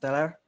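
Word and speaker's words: teler: Yeah, it's pronounced Teller. You know, if you got drunk or if you got stoned and you feel high, it's called Teller in Indonesian.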